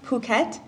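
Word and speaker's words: Phuket: สับสน ออก เสียง เป็น นี่ ซะ The It's pronounced puket It's In Thailand Where n Family from ภาพยนตร์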